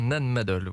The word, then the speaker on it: Nan Madol: de la cité antique de Nan Madol c'est comme ça qu'on prononce oui c'est bien Nan Madol oui et donc cette